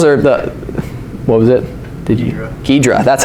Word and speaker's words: Ghidra: Ghidra, that's how you say it.